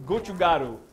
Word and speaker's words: gochugaru: wasn't going to remember the name gochiguru Gucci Guru did I say that right it's in your recipe did I say it right I think it sounds like it's it's spelled gochugu gochugaru I was close it's a it's a